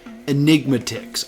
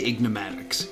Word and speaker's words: Enigmatics: Enigmatics. I always want to say Ignatics.